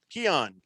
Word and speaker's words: Keon: Keon is Keon. Keon rhymes with the element.